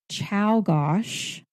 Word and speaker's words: Czolgosz: Guiteau, William McKinley in 1901 by Leon Czolgosz, not how it's spelled, I can tell you that, and John F.